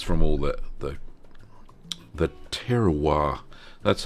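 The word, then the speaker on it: terroir: the milk gets from all the the the terowir that's how you say it in French.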